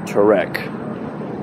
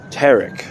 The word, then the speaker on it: Tarek: 'Didn't record the pronunciation, but she said Tarek. Kind of like Tourette's. All right. Here's the, here's how they spelled my name. T-E-R-E-C. Tarek.